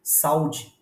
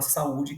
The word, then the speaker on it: saúde: Num caso como ess eu não posso ler salud porque se eu lesse salud eu estaria afirmando que o u não é uma sílaba tônica Portanto ele seria uma